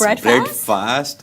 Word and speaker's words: Breadfast: First of all, it's Breadfast. Breadfast, it's a play on breakfast.